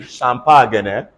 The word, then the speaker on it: champagne: carry on so basically we are phlegmatic um c-h-a-m-p-a-g-n-e pronounce this word for me it's not fish champagne